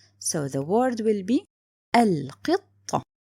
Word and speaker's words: القطة: So for sure, this is lam qamariya. It means it's written and pronounced. So the word will be القطة. القطة.